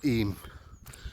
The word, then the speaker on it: Eyam: Graves well I'm in I me or e as it's pronounced so I'm going to